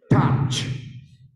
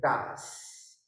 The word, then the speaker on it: touch: Touch. Many people say Tas. Please don't Tas me mas. All right, touch.